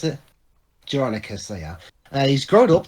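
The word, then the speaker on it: Jeronicus: How do you pronounce Geronicus. it? Geronicus, they are.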